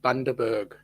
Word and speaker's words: Bundaberg: The pronunciation of the place is called Bundaberg, Bundaberg.